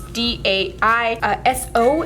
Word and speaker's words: Daiso: butter slime yet, basically all you need is Daiso clay, and it's spelled Daiso, though. It's D-A-I-S-O, and it's Daiso clay, and it's wonderful.